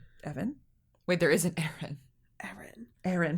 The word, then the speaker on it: Ehren: Aaron, but it's of course it's spelled EHREN.